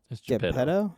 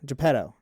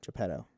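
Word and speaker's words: Geppetto: talking to uh Japetto. Jeppetto. Jeppetto. Sorry, I almost said his name wrong. It's Italian.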